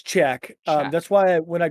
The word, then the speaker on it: Chak: if Chalk, is it pronounced Chack or Chalk? It's Czech.